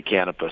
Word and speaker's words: Canepa: Basically, within the family, people say Canepa and they say Canepa.